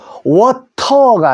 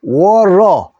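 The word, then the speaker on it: water: 때문에 요거 어어 모이죠 모음 사이에는요 t 발음이 미국식으로 리얼 발음납니다 그래서 우리 물도 워터가 아니고 워러 컴퓨터 컴퓨터 트 발음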